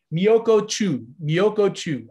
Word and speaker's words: Miyoko Chu: like Michio Chu Miyokuku, I can never say her name right. I always get the wrong K and CH sound. Miyoko Chu, I've got it.